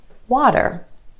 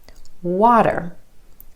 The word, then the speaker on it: water: Instead of water, water, water. Do you hear that flap T or the D sound? Water.